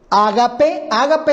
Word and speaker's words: ágape: Ágape es la palabra, es bueno decir esto, ágape es la palabra griega, así se pronuncia, que se encuentra aquí